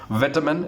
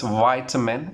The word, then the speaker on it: vitamin: Another one, okay, we say that, of course, that I've already repeated this, and I'm repeating, it's not vitamin, it's vitamin is the correct pronunciation.